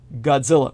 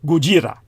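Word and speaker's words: ゴジラ: the modern franchise the when you hear a Japanese person speak his name they say guira which is the way they pronounce his name for those of you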